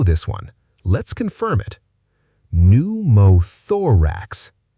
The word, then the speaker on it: pneumothorax: Pneumothorax. If you watched the first video in this series, you already know this one. Let's confirm it. Pneumothorax. The P is silent. Pneu sounds like new.